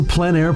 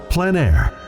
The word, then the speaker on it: plein air: Called PleinAir, the French coined the term, which means open air or outdoors. The French pronounce it plein air. Others say PleinAir.